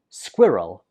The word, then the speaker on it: squirrel: of these in London we pronounce this squirrel squirrel so a lot of students find this difficult because of the consonant cluster that is the different consonants that follow each other so in the first syllable we pronounce it and the second syllable is just roll Square roll squirrel one more time squirrel for example there are